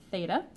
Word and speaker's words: theta: we use as a variable for angles it's pronounced theta so that's a common variable that you'll see